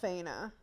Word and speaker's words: Aina: winner aena I think aena there's no F in there I was watching it today and they were pronouncing Aina that makes more sense and Adrian yeah um